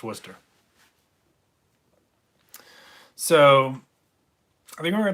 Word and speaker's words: Worcester: I saw a lot of concerts up in Worcester, actually. And by the way, if you look in chat, Clean Money says that's actually the pronunciation of that city is Worcester, Worcester, but it's pronounced Worcester.